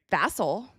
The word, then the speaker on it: Vassell: I'm going to start pronouncing Devin Vassell like all the ESPN media. Vassell. Vassell and Castle.